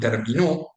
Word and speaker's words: terminó: In Spanish, stress is very important, so you can find words in which when you change the stress syllable, you change the meaning. You have esta and está, those have different meanings. You have three-way contrasts, for example, in situations like término, termino, and terminó.